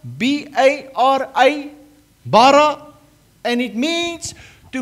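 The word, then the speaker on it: ברא: When you create something, and the Hebrew word for creation, it's called bara, B-A-R-A, bara, and it means to make something from nothing.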